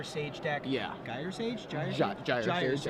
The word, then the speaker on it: Gyre Sage: Gyre Sage, I believe is the correct pronunciation.